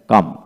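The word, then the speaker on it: calm: সি এ এল এম কাম সি এ এল এম কাম এখানে এল এর পূর্বে কিন্তু এ রয়েছে তাই এখানে কাম হলো পি এল এম পাম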